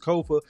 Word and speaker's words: Kofa: I am your humble host, Kofa, K-O-F-A, not coffee, not Khufu, not Kofi, or any variation thereof. Kofa rhymes with sofa.